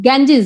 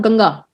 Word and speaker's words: Ganges: That Ganges, ceremony, Ganges, Ganges, not Ganga. Ganges.